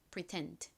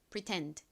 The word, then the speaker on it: pretend: pretend 같이 발음해 볼게요. 따라해 보세요. pretend 뒤에 강세가 있죠.